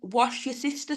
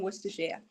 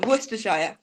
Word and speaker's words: Worcestershire: Some Americans call it wash your sister sauce because they can't pronounce it.